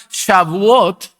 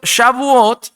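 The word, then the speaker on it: Shavuot: Es una festividad que, bueno, muchos llaman shabot, no lo voy a pronunciar bien, tengo que mejorar mi mi idioma, mis lenguas. Pero Shabuot era esa fiesta que representaba o celebraba las primicias de la cosecha.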